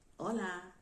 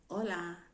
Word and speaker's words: hola: you would hear it anywhere you go to hola hola hola they don't spanish people don't pronounce the age so they didn't say hola